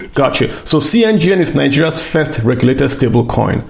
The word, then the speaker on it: cNGN: Do I say cNGN? Is that how I say it? Yes. It's basically NGN, but like a C. With a C. Got you. So cNGN is Nigeria's first regulated stablecoin.